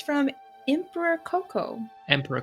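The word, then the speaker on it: Kōkō: or actually I mean co co say co co not Coco like in as the I think it's the gorilla but co co forgive my my bad pronunciation not Coco like the Disney movie no not Co so cooco it's got the long marks over his O's so Emperor cooco was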